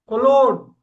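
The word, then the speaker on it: cologne: எஸ், G silent கரெக்ட்டா. எப்படி உச்சரிக்கணும்? கொலோன். கொலோன். கொலோன். Okay. ஜென்ஸுக்காக போடுற பெர்ஃப்யூம் பாட்டில் இது கொலோன். அது இருக்கும், ஜிக்கு மேல கோடெல்லாம் போட்டிருக்கும். பிரெஞ்சு வேர்டு இது கொலோன். G silent.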